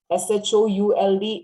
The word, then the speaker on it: should: L is silent. W-O-U-L-D is would. लकड़ी के हम क्या बोलते हैं? would, है ना? ऐसे बोलना है. Would. C-O-U-L-D is could. Could नहीं है. Could. S-H-O-U-L-D is should.